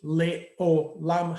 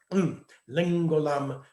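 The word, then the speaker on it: לעולם: would be pronounced Ki Leolam Hasdo. There's an ayin in between there, and the ayin among Spanish Portuguese Jews is pronounced as an ng or a gn sound. Lengolam Hasdo, Ki Lengolam Hasdo.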